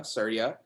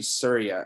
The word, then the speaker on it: Surya: way that i get people to pronounce my name is by saying sir like s-i-r-y-a so sir yeah surya um and i will